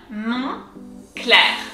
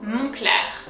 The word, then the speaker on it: Moncler: So if we look at the first syllable, we have mon. So on in French is un. So it goes un, on, mon, clair.